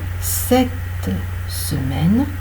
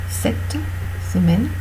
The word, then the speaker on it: semaine: Donc on dit bien, cette semaine, nous irons voter. D'accord? Il faut prononcer lorsque il y a deux consonnes avant, cette semaine, ou alors deux consonnes qui n'appartiennent pas au même mot. Cette semaine, nous irons voter, c'est-à-dire le T et le S. Le T appartient au premier mot, cette, le S appartient au deuxième mot, semaine. Et là, on prononce le.